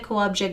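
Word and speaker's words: Kołobrzeg: My favorite city in the world is called Kowabzeg, and I'll put it under here. You can look at it. I guarantee you that you looking at it, unless you're Polish, would not have said Kowabzeg, not in a million years.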